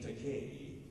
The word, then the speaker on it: Takei: So I said in this YouTube PSA, my name Takei rhymes with gay.